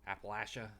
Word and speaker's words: Appalachia: uh ttrpg um old gods of Appalachia uh Appalachia that's the correct pronunciation because they say it's pronounced like apple